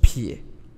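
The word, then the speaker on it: 丿: 下一个字呢是撇，它就是念成一撇的撇，奶、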